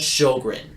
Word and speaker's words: Sjowgren: I found this song called 17 by Sjogren, SJOWGREN. I said that because they deserve way more attention. They're really talented. Verbally say their name again. Sjogren. Sjogren. But it's not spelled like that.